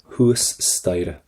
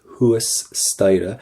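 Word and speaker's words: thuas staighre: Huas staire. Do not pronounce that H. Or sorry, do not pronounce that T. Huas staire. And do not pronounce the GH in the middle of that as well.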